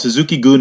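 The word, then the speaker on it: Suzuki-gun: that's what they're called Suzuki Geun means tsuki game okay yeah it's a Japanese goon goon is spelled gu n it means like yeah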